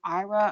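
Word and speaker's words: Aira: It's A-I-R-A, IRA, I believe is how it's pronounced, where you can connect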